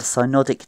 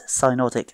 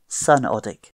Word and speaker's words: synodic: And you might remember this more easily if you mispronounce synodic as sunodic.